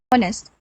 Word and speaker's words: honest: Honest. And for the wrong pronunciation of the word honest, the H is not silent, while the correct pronunciation, honest, the H is supposed to be silent.